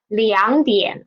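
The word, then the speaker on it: 两点: When there are two third tone syllables together, we will change the first one into second tone, right? So although it is written as 2点, we will read it as 2点.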